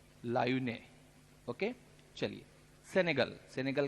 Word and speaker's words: Laayoune: चलते हैं वेस्टर्न सहारा की तरफ, ऊपर मोरक्को के नीचे, और इसकी कैपिटल है, इसको अच्छे से आपको प्रोनाउंशिएट करना है, LAAYOUNE, लायूने।